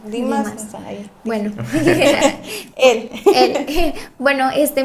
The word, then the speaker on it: Demas: Este y bueno, yo lo conozco como Dimas. Sí, es que se escribe Demas, pero no sé si pronun Dimas.